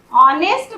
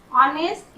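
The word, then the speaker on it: honest: यहाँ ऑनेस्ट बोलते हैं, एच का साउंड नहीं करते हैं। ऑनेस्ट, आ का साउंड हो रहा, एच का साउंड नहीं हो रहा। ऑनेस्ट ईमानदार।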